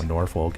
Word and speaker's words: Norfolk: That's how it's pronounced. Just Prescott. like how Norfolk is Norfolk.